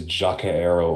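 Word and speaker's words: Jokaero: I learned that their orange base color is Jacaero orange. Yeah, thank you, Sir Astro, for pronouncing it correctly for all of us who were confused.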